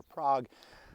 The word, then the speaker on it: Prague: Hi folks, I am in, they pronounce it Prague or Prague, Nebraska.